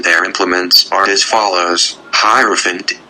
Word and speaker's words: Hierophant: The names of the officers and their implements are as follows: Hierophant, Hierophant. The I is pronounced as in the word I.